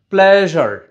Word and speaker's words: pleasure: উচ্চারণটা হচ্ছে প্লেজার।